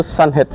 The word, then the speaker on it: Skjønnhet: band Sunhead. Sunhead ya. Sunhead. Bacanya susah Pak, teman-teman. Maklum ya, mohon maaf. Jadi pronunciation yang benar itu Sunhead. Sunhead. Jadi O-nya dicoret itu nggak kehitung gitu.